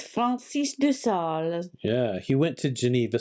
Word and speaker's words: Francis de Sales: So during the Reformation, Francis de Sales, you pronounce it better than I do, was a Catholic who went... It's Francis de Sales.